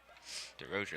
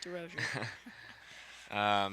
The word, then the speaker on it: DeRozier: DeRozier, that's how you say it. DeRozier.